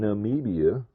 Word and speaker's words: Namibia: right well it's not too bad so in Namibia you know they said that this this company